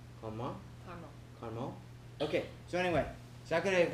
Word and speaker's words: Carmont: That's the right way to say it in French. Carmont.